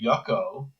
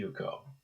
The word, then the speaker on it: Yuko: If you're if I call you Yucko, obviously I don't, it's obviously I'm disrespecting you because I'm not giving you the time to understand how your name is pronounced. It should be Yuko.